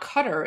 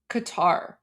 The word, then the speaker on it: Qatar: because um no it's not cutter it's you you guys just don't have that sound in English that's why people say like Qatar it's it's definitely not